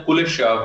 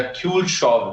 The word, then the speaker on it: Kuleshov: देखें कि एक बहुत पुरानी स्टडी है 1917 की, इसको हम बोलते हैं कुलिशॉव इफेक्ट या क्यूलशॉव effect, one ऑफ the ways to pronounce it, KULESHOV, कुलिशॉव effect.